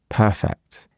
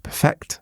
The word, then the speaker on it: perfect: means completely flawless and the first syllable is stressed. Perfect is the enemy of good. But when it's a verb, so to perfect something, it's the second syllable that's stressed. Perfect. Listen to that difference. It's perfect versus to perfect.